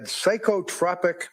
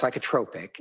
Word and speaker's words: psychotropic: Um, she also had psychotropic medication with adverse reaction. Your words to this jury yesterday. Yes. What is psychotropic medication with adverse reaction? What does that mean? It's pronounced psychotropic and okay.